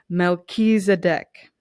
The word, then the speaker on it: Melchizedek: how it's pronounced because I never would have pronounced that the right way. Luckily, I've read this deck before, and it's Melchizedek.